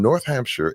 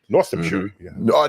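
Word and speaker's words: Northamptonshire: My name is and I'm from North Hampshire in the UK. Northamshire. So, North uh Northamshire. North. Yeah, I got to say it right. They staple it all together.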